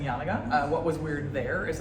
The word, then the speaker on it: Janega: some time, at which point everyone was saying YAN-uh-guh.